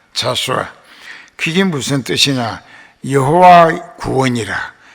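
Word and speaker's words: Joshua: 그 영어 성경적 프로넌세이션이라고 발음으로 말하면 이게 자수아라고 합니다. 자수아.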